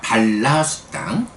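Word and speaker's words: bala: 발라수당. 발라라고 하는 게 발라, 이렇게 발을 길지 않게 발라라고 하면 심이 되고요. 앞에 아를 길게 발라라고 발음하면 어리석은 자, 이런 의미가 되죠. 여기서는 이제 길게 발음하지 않으니까 발라수당, 힘경, 이렇게 되죠.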